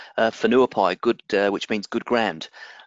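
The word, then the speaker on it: Whenuapai: a bit bit of a difficult thing to pronounce Fonua pie good which means good grand and so that's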